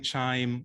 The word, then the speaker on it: QIIME: are we actually using chime um to analyze 16 s amplicon data because you know there's a lot of other ways to do it um so first of all it's pronounced like wind chime so that's when the